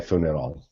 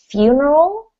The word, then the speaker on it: funeral: It's pronounced funeral, so Funeral. that U has that sort of few, like imagine there's a Y in there.